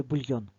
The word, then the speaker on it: бульйон: йошта медальйон та бульйон Так це бульйон визначимо наголос в слові бульйон покличемо слово бульйон наголосна О правильно в в словах де